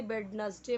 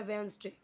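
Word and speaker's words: Wednesday: वेंसडे, बहुत लोग इसे वेडनसडे पढ़ेंगे या बहुत लोग इसे वेनसडे पढ़ेंगे, लेकिन करेक्ट प्रोनाउंसिएशन क्या है? वेंसडे। वेंसडे कम्स, वेंसडे यानी बुधवार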